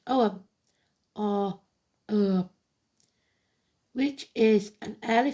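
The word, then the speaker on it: Ogham: It shows the symbols called Urgam, pronounced Oam or which is an early form of Irish writing placed around concentric circles.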